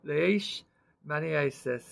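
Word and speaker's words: leishmaniasis: today on a Sunday leish Manis that's how it's pronounced on in the word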